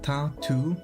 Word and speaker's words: tattoo: TA like from tattered? So tattoo? Because the double O makes a long U sound, I think. Tattoo. But yeah, it sounds kinda like two. Just with two O's. Help, I can't stop.